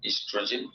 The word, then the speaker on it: oestrogen: ईस्ट्रोजन और progesterone, ईस्ट्रोजन की spelling O से शुरू होती है, OESTROGEN, ईस्ट्रोजन, और PROGESTERO है प्रोजेस्टेरोन।